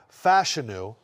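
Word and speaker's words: Fashanu: back one spot go Olu fashion is the correct way to say it we are Penn State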